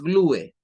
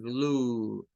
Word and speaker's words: glue: Por ejemplo, miren, en esta está una UE, no es glue, es glue. O sea, esa UE es como que la E no suene y solo suena la U, glue, glue.